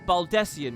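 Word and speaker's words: Baldesion: Okay, it's Baldessian. We're learning the pronunciations.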